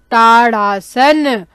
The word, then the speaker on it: ताड़ासन: ताड़ासन, ताड़ा, आप यहाँ पे ड में क्या देख रहे हैं, ड के नीचे बिंदी है, इसलिए हम इसका उच्चारण कैसे कर रहे हैं, अड़, ताड़ासन, है ना।